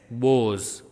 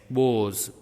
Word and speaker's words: boughs: Next, number 5, B-O-U-G-H-S, bows. B-O-U-G-H-S, bows. Here you can see G is silent and H is silent.